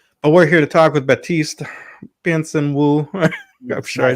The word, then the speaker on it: Baptiste: batist uh sure so my name in in the real 100% pronunciation is batist p um as you